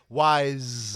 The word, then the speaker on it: Weitz: I'm assuming that's how you say his name, Weitz, Weisc. Yep. He was Wise. Wise. Okay. It's like Rachel Weisz.